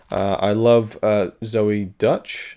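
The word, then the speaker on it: Zoey Deutch: uh i love uh zoe dutch that's how you say her name she's the daughter of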